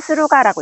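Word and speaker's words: 駿河: 신묘년에이 준화 준화는 스루가라고 읽습니다.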